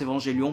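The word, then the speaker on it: Evangelion: Ou d'Evangélion, je m'en fous, je prononce Évangélion parce qu'à l'époque, voilà, c'était comme ça, c'était Évangélion.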